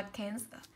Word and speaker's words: cancer: Ý C đọc là prevent và ý D đọc là cancer. Cancer thì cô sẽ có âm đầu tiên của cô là e bẹt, âm thứ hai của cô là âm ơ.